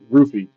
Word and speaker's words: Ruffy: Is it Ruffy or Hoofy? I always forget. It's pronounced both ways. Okay. Typically the letters in the language would be pronounced Hoofy, but a lot of people call it Ruffy and he's pronounced it